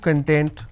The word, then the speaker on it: content: means ingredient or index when i pronounce this as kan that means happiness or being happiness or being self-satisfied so these are the aspects